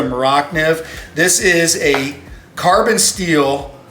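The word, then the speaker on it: Morakniv: got the nif and most people call mora this is a swedish made knife because they're not maybe pronouncing it correctly but it's the maracniv this is a carbon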